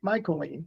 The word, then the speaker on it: Mycoline: Mycoline. So MYCO and lean. Lean. Mycoline.